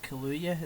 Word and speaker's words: Kaluuya: It was Jim Carrey, Daniel Kaluuya. Is that how you pronounce his second name?